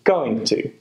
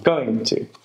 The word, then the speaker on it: going to: so it's a plan when we pronounce be going to we often link the going and two together with the two being pronounced as a weak sound for example going to i'm going to i'm going to have